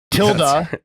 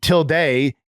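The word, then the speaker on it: tilde: code Jared that's right till is the English pronunciation and till day is the Spanish language pronunciation here's confused J is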